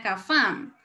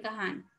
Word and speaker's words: Cafam: Por ejemplo, hay personas que no dicen que pertenecen a Cafam. Porque las personas, he escuchado, las personas de aquí donde yo soy, a veces no pronuncian bien la F y pronuncian es una J.